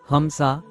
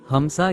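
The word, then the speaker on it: حمزة: ஹம்ஸா ஹம்ஸா என்பது சரியான உச்சரிப்பு.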